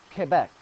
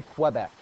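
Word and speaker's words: Québec: the correct spelling for Quebec and I'm saying Quebec because that is the way it is pronounced in Quebec they do not say Quebec it's Quebec repeat after me Quebec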